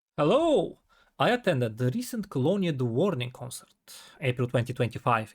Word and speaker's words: Colonia: And yes, Colonia is the 100% law accurate way to pronounce the city's name.